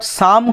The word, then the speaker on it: psalm: তারপরে আরেকটা খুব important, a certain short সাম call the voice of the mother, PSALM, এখানে পি আর এলটা সাইলেন্ট থাকবে, ওটা হবে সাম মানে স্তোত্র বা মন্ত্র,